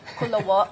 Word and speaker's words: Kula: And if you're a dipper, you know, just like you can enjoy the Kula salad. Kula, did I say it properly? That's right. It's a hard O. Kula.